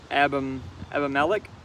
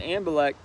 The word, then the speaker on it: Abimelech: Abraham and, how do we pronounce this? Abimelech.